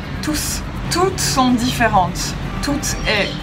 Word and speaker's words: tous: d'un pronom pluriel masculin on prononce le s tous toutes sont différentes tout